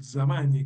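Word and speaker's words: Zamagni: eh hay un profesor, hay un economista católico, un economista italiano que se llama Stefano Zamani con Z se pronuncia así la en italiano.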